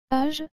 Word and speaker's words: âge: Âge, âge. Vous avez aussi remarqué que la lettre G, suivie de la lettre E, doit se prononcer je. Donc toutes ces lettres ensemble donnent âge.